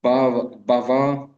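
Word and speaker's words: бхава: И оно, естественно, приводит к бава махадавагни нирвапанам. და მას თავისთავად მიუყავართ ბავა მახადავაგნი ნირვაპანამდე. Это означает, что огонь бавы, то есть это не бавы, а бавы. Бава ударение на втором слоге, это означает материальное существование.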